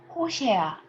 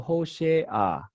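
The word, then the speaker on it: הושע: And then in terms of pronunciation, this pata is called pativ pata. So you can see that the location of pata is slightly on the right side. In this case, you are supposed to pronounce this sound before the following consonant. Okay, so hoshe a.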